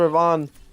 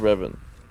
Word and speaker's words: Revan: but that should leave everything for Knights of Ravon to open up this fight and secure Atlas. I keep changing the pronunciation of their team name. up. Knights of Revan.